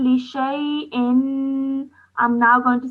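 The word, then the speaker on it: لشيء: That means this is Alif Zada and you don't pronounce it when you are reciting. So you can see that the Alif is missing after the sheen and you straight away go into the Ya with the sukoon on it. So this becomes a Ya leen.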